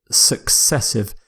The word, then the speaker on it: successive: next word is successive successive it's similar to consecutive successive means something happens one after the other usually without a gap and the pronunciation success as in the word success of course so some